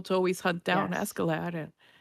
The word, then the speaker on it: Askeladd: Askeladd? Is that how you say it? And Askeladd, yeah.